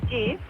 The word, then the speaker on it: GIF: GIF is pronounced GIF. What? As in giraffe.